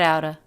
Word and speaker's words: out of: get out uh get outta the word of is reduced to just the schwa that's pretty common especially